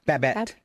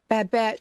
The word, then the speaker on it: Babette: Babette. Babette.